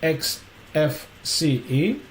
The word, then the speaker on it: Xfce: And then, regarding the XFCE, uh XFCE, pronounced as four individual letters, XFCE, is a free and open source desktop environment for Linux and other Unix-like operating systems.